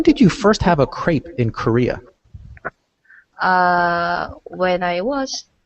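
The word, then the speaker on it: crêpe: In English, and I believe in French, we'd say crepe. Crepe. Just one syllable.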